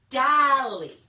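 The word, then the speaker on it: Dalí: he's a famous artist salvador dali in english that's how we say it dali so hopefully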